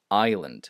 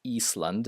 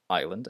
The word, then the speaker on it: island: sword and answer and Silent s in at least these two that I could think of Island it's not Eastland it's Island and is and Silent p